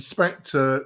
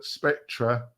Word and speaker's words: Spectra: cadence because um been and Spectre Spectra I always pronounce it incorrectly apologize David um I always say Spectre because David reminds me